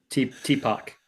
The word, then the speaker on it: T-Pac: You know, is it pronounced T-Pac or T-Pac? T-Pac.